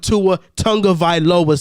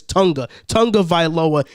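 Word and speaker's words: Tua Tagovailoa: dan marino and you're definitely not winning with tua tonga vi loba since i'm always getting his name wrong it's tonga tonga viloa and now i'm pretty sure the entire dolphins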